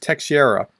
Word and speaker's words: Teixeira: perhaps 21 year old Jack Teixeira I believe that's pronounced te Sierra I I went to